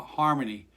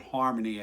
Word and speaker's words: Xarmony: but it you know you would get harmony out of it even though it's an x so that's how you